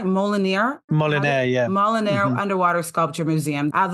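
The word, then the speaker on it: Molinere: Molinaire, yeah.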